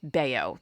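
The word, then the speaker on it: Bello: wrong yesterday i apologize i should know that b-e-l-l-o when the player is dominican is probably yeah pronounced baio so i apologize now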